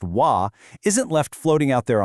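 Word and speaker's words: و: But, the Arabic word for "and," which is pronounced "wa," isn't left floating out there on its own.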